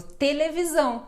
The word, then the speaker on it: televisão: t com e i não é sempre que fica ti por exemplo televisão não muda Então tome cuidado porque